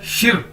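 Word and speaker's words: 十: जी एस एच आई देखने में लग रहा है शी लेकिन हमने इसको शी नहीं बोलना इसको बोलना शिर आर साथ में देखिए इसको प्रोनाउंस करने का बोलने का तरीका है शिर समझ ले इसके साथ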